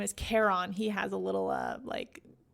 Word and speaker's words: Charon: In the book, it says it's pronounced Charon, like Care Bear, and then the word on, like off and on.